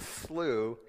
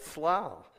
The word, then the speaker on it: slough: D being the lowest grade means the committee found that it's very highly doubtful that the pronunciation of the word in question is slew, instead of the almost universally accepted slough.